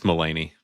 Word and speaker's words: Mulaney: Yeah, it's Melany, not Mulaney.